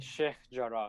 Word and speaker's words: Sheikh Jarrah: I'm terrible at pronunciation. How do you say it again? Sheikh Jarrah.